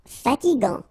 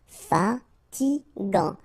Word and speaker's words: fatigant: Final T not pronounced. Fatigant. Fatigant.